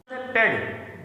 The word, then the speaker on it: pede: पेड बोला जाता है, और जब ये सफिक्स होता है अर्थात किसी शब्द के अंत में आया होता है तो PEDE इसकी स्पेलिंग होती है और तब ये पीड बोला जाता है।